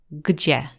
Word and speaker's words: gdzie: So the first sound is g, g at the beginning, but then the three middle letters make the sound G, G. It is quite similar as in the word jeans in English, still a bit different, but it's G, G, G. And the final sound is E, E. So all those three sounds together, G, G, E, make the word gdzie.